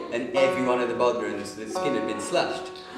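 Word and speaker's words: bodhrán: So he had the back of his Volvo just full of newly made Bodhran, however you say it. An Irishman will tell you said it wrong. Bowron.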